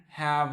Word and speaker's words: have: Recuerden que la E final no va a sonar, muchachos, a menos que sea la única vocal que se tenga en la oración, por ejemplo, como en esta palabra, ¿sí?